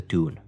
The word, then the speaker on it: Toon: the Geordies and the Toon. The Geordies is a general term to use to describe people who come from Newcastle, and the Toon is how Geordies pronounce the word town in their accent.